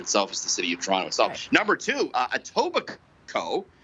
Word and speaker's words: Toronto: know how it's pronounced pronounce it like a true torontonian toronto toronto toronto it's not wonderful uh so that's the most mispronounced uh word itself is the city of toronto number two uh etobicoke